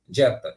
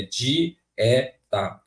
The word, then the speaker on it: dieta: aqui ele ficou forte eu não consigo pronunciar je porque se eles ficassem junto ficaria je Jeta e não é Jeta é de e tá esse é fica separado